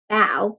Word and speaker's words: bao: title page and they're telling us how to say the word foul because if you've never had a vow before you might not know how to say that word b-a-o bow can you spell that